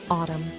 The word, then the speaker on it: autumn: a voiceless consonant finally the letter N is silent in some words and it's not pronounced at all here are some examples of words that have a silent n condemn Autumn solemn damn him did you notice how the N is not pronounced in any of these words now it's time